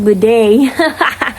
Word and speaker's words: bidet: Oh, gue baru tahu lagi kalau bidet tuh bacanya dalam bahasa Inggris bidet.